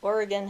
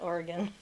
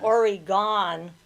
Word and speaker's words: Oregon: I knew you meant Oregon, not oregano. My sister calls it Origon. She She doesn't know that we don't pronounce it that way.